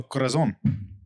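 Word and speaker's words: Corazón: are we drinking uh Sean how do you pronounce this one oh Corazon yeah Corazon uh it's an Anejo tequila aged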